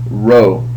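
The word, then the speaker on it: ῥῶ: a p but is actually a row and and that's how you say that that letter row and the row is equivalent to our our letter r uh in English and it sounds like the r and Rod so when you see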